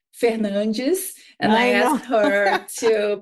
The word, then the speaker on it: Fernandes: Like since I moved to this country, I say Fernandez, but it's not the right pronunciation. It's more like Fernis.